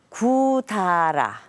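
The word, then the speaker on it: 百済: 바로 백제의 일본식 발음입니다. 구다라. 백제를 일본에서는 구다라라고 부릅니다. 그런데 아마 일본어를 배운 분들이라면 이 발음이 조금 이상하다고 느끼실 겁니다. 백제라는 한자를 일본식으로 읽으면 백을 샤쿠, 제를 사이라고 읽습니다. 그러니까 샤쿠 사이인 것이죠. 구다라라는 발음으로는 전혀 읽혀지지가 않습니다.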